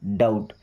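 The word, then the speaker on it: doubt: अब इस डाउट word में दोस्तों बी साइलेंट है। इसे डुप्ड नहीं पढ़ते। डाउट क्या पढ़ते हैं? डाउट।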